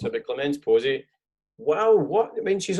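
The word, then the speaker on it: Clémence Poésy: So it's Clemence Posey. I didn't want to be rude and mispronounce it, but Clemence Posey.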